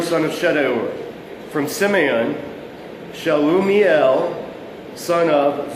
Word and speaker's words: Shedeur: But for weird names, always pronounce the I's an I or an E. Pronounce every vowel. And what you'll get is Elizur, son of Shedeur.